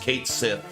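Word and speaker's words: Scientia: Uh Retro wants you to know that's pronounced Kate Sith.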